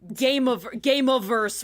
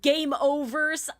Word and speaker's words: Gameaverse: Like, but you say it like a human who speaks English as a native, like Gameaverse with like a like we just talked about. You know, you don't Gameoverse.